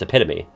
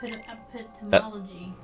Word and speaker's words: epitome: pronounce it you're fine it's epitome epitome see like I think of epitome but when I think of the other way EP epitomy yeah but that's they're different